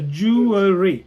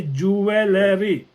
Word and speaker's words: jewelry: so angry yeah you have you have the pronunciation here so jewelry jewelry so jewelry we used to say Jewelery that's wrong so can connect those together jewelry